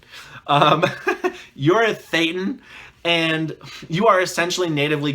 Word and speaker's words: Thetan: I say Thetan. For some reason on the videos I like to pronounce my T's. Thetan. You're a Thetan, and you are essentially natively godlike.